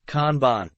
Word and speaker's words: kanban: individual team and even organizational levels it is pronounced kanban this term is of Japanese origin implying visual